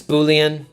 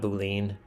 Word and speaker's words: Boolean: It's Boolean. Thank you. Thank you." Not Boule. Yeah, I always have a I always screw up the pronunciation that. Thank you for uh for correcting me.